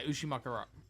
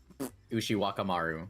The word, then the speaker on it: Ushiwakamaru: MASH, and I can never remember how to pronounce Ushiwakamaru? Yeah, Ushimakara. Ushiwakamaru.